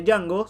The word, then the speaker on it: Django: De ahí su respuesta ante la declaración de Django sobre que la D no se pronuncia.